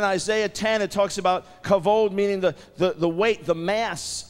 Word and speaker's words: kavod: How many would be willing to risk your life on the way you pronounce it? The Hebrew word for glory, many of you know, is the word kavod.